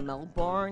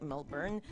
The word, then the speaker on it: Melbourne: It's like my performance voice, and like my friend was like, it's thinking maybe moving interstate, like going to Melbourne, as the Americans say, when it's actually like Melbourne.